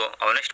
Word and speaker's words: honest: ऑनेस्ट लिखा जाता है एच से, HONEST, लेकिन एच का उच्चारण नहीं होता है इसीलिए उसको ऑनेस्ट पढ़ा जाता है और इसीलिए